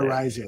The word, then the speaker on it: Araiza: case of punter Matt Araiza, I think is the pronunciation. Well, that's what I was talking about. Matt Araiza. That's how you say Araiza, yeah.